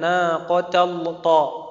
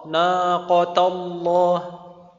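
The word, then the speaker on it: ناقة الله: Naqota bukan naqotall th naqatallah tapi dibacanya tetap tipis.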